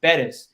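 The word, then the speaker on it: Pérez: So my last name is pronounced Perez because there's an accent on the first E, and it really drew me back because language, especially in our industry, is so important.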